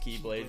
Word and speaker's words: Keyblade: no well I thought when they first pronounced it they had like really emphasized the key but now they're like no just Keyblade it's not the key you okay yeah I'm